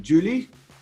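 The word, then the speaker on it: Giuly: There was a French guy for Barcelona, probably won't pronounce his name right, Julie? Yeah, Julie, yeah, that's right, yeah.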